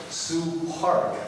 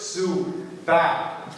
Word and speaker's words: Sue Park: chosen by a profession, Sue Park. Sue Park. So she's an attorney, but in Korea, what she's going to do is Sue back. We have Alex here. Arnold Schwarzenegger's pronunciation, Sue back, right?